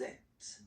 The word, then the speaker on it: êtes: Vous êtes. Vous Same êtes. thing here. Notice that final S is not pronounced.